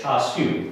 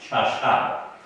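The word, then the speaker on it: 叉烧: I grew up calling this char siu, but in other dialects you might hear it pronounced cha shao.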